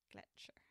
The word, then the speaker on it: Gletscher: Gletscher. That's definitely better than glacier. Oh, sweet. Yay. She said my pronunciation was perfect.